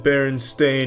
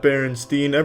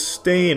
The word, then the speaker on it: Berenstain: It's always been Berenstain, not Berenstein. They all want to pronounce it Steen, but it's Stain. Ever since I was a kid, they call me Steen. It's Stain, though.